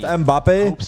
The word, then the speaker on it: Mbappe: And for crew, if you want, it's pronounced Mbappe. In New York, we call him Mbappe.